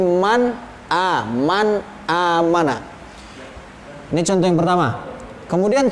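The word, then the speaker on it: من آمن: Jadi bacanya harus jelas. Man amana, man a, jangan sampai man, apalagi ikhfa man a, tidak boleh, tapi man amana.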